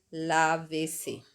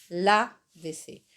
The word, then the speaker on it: lávese: Y le tengo que agregar el pronombre reflexivo al final, entonces queda lávese, lávese, entonces de nuevo con el acento en la A, lávese, usted lávese, ¿ok?